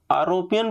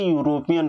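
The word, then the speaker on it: European: आरोपियन पढ़ते हो या फिर यूरोपियन पढ़ते हो, तो इसे यूरोपियन पढ़ा जाता है।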